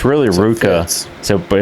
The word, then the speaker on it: RVCA: the brand uh with Ruka but it's spelled RVCA like the clothing brain it's actually you know that V is actually a u let's start no idea